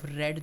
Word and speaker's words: read: लिया है I have रेड newspaper spelling से रहेगी बट जो प्रनंसीएशन है वह अलग होगा रीड रेड रेड बोलेंगे इसको ठीक है रीड रेड